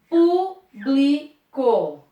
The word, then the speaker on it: público: Público. Ou é público? O público, se for o público, eu tenho uma sílaba forte. Se eu digo eu publico, eu tenho uma outra sílaba mais forte, ó. O público. Público. Público. Eu publico, ó, mudou a sílaba forte.